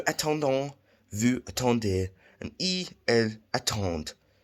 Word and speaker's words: attendent: Nous attendons, vous attendez, and elles attendent. As you can see, the ENT is silent, as I've covered that in the ER video.